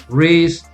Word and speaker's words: wrist: common english w r the w is gonna be silent so for example we say rock rub wrist wrinkle wreck okay okay